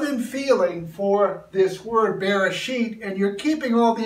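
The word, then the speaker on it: בראשית: including my Israeli friends our word for consideration is Bereshit there's an accent over the bee it's kind of a bee bib sound Bereshit this is the modern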